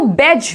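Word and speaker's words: badge: देखिए बेज, क्या बोल रहे हैं इसको? बेज बोल रहे हैं, बेज नहीं बोलेंगे, बेडज लिखा हुआ है, ऐसा नहीं, बेज, डी यहाँ पे साइलेंट है।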